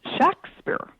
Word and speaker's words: Shakespeare: documents of the period the name was pronounced Shakespeare um with a short a.